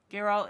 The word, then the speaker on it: Geralt: section but it's really interesting so far and Geralt is that how you say his name yeah garol is a really awesome character so far I